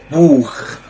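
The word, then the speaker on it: Buch: اللي معانا بعد كده بوخ بوخ يعني كتابه معانا هنا مقطع السي اتش بس قبل حرف الاو بتنطق خا الكلمه اللي معانا بعد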